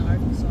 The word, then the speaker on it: Arkansas: And then this state, we're going to spell it the exact same way. Just add an A and R to the beginning, but then we're going to pronounce it Arkansas.